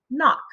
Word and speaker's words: knock: ck for the sound and the word is knock again our focus is um spell kn like